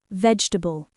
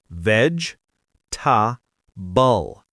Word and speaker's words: vegetable: The common mistake is to pronounce every syllable, saying something like veg-e-table, which has 4 syllables. But in natural spoken English, we actually shorten this word. The middle E is silent, so we don't say veg-e-table. The correct pronunciation only has 3 syllables.